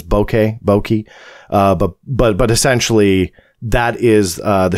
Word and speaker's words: bokeh: I think Mick West, and full credit to him, put up an excellent argument that those were, I think the correct pronunciation is bokeh, but essentially that is